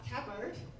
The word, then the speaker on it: Tabird: Um next up we have Tabird or is it to bird? Tabird. Hello. Do you want to introduce yourself and tell us how to pronounce it? Uh, Tabert. T and B together.